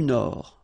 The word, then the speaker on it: Nord: La mer du Nord. Final D, not pronounced.